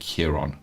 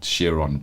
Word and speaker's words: Chiron: And Rory speaking about, I pronounce it Chiron, but Chiron sounds just as good.